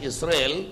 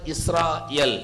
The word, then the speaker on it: Israel: Though in English they pronounce the word as Israel, ఆంగ్లములో ఇశ్రాయేలు అని చెప్పి పిలుచుచున్నప్పటికీ it is originally should be pronounced as Israel.